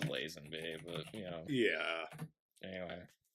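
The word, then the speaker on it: Lazenby: la or laen be I'm actually not isn't it is it lasen be I usually pronounce it lasen be but you know yeah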